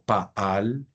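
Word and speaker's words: פָּעַל: Las gramáticas han utilizado este verbo que tú ves acá, que nosotros lo pronunciamos como paal, él trabajó o él obró o él actuó, lo han utilizado como una especie de clave mnemotécnica.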